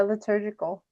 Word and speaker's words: liturgical: Yeah, liturgical. That's not how we said it in my Catholic church. Interesting. Because it was always pronounced the liturgy and it was the liturgical. Yeah, is how they said it.